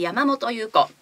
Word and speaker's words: 山本優子: 、はい、で山本優子、山本、そして優しい子と書いて山本優子と読みます。